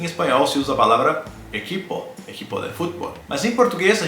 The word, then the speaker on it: equipe: última sílaba né equipe de fato nós dizemos equipe equipe porque porque a letra e é a última letra ela sofre um processo de redução vocalista a equipe a equipe